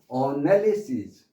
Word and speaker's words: analyze: 그러면 이거를 이렇게 한꺼번에 모아놓지 않고 같은 것을 모아놓지 않고 그냥 분리하는 것, 떼어놓는 거, 이거는 analyze, 사이즈라고 발음하시고요. analyze 요게 있습니다.